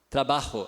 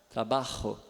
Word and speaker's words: trabajo: Trabajo, aí já é outra, aí é o ha, trabajo, né? É o mesmo R do carioca, só que não escreve com R, né? Escreve com J, né?